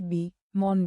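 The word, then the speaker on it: bomb: Silent B मॉन बी। जब एम के बाद बी आए तो बी अक्सर साइलेंट होता है।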